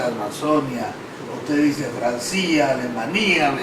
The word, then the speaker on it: Amazonia: Chiquitania, no sé si es Amazonía, se dice Amazonia, usted dice Francia, Alemania, me dice, ¿no?